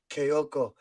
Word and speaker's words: Kyogo: I think the fans, I'll say it like Ange, Kyogo.